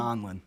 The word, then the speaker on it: Donlon: Donlon.